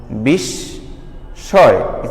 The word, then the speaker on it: বিস্ময়: যেমন বললাম বিস্ময়, বিষ বললাম, বিষ বলে কিন্তু আমি হঠাৎ থেমে গেলাম, বিস্ময়।